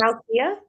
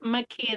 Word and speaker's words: Makia: Is it Malkia? it's Makia. The L is silent.